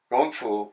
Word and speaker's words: kung fu: But when that word is said in China, it's not K. They don't pronounce the K. That means it's a hard G.